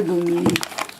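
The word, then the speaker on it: グミ: In Japanese they say gumi. Gumi. Yeah. Because it spells G-U-M-M-Y. Right. And G-U we pronounce gu.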